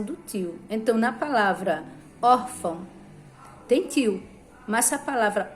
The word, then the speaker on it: órfão: Órfão, o acento tônico é or, porque a sílaba mais forte de órfão é or.